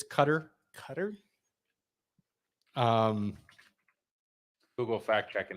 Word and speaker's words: Qatar: between both of you a lot of people call it cutter but it's qatar so i believe the cutter came from when they actually announced it that's how the locals say it so people started catching